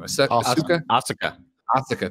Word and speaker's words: Asuka: Asuka, thank you.